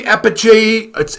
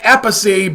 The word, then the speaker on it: Appice: Well, this guy's name is VINNY APPICE, and I believe Appice is how it's pronounced. Could be Appice. You know, he's got an Italian background. But I've heard it pronounced Appice by Ronnie James Dio, so I'm going to go with what Ronnie calls him.